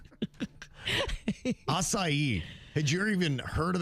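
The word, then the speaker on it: açaí: First of all, didn't know how to pronounce it, right? Akai. I said akai for a few months.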